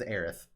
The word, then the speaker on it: Aerith: able to hear them say her name is Aerith.